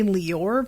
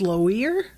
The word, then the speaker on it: Loire: town it's l-o-i-r-e um and i want to say lior but that would mean that the i would have to be before the o so it's lower is it low ear